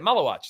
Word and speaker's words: Maluach: Now I know how to say it. Malawach.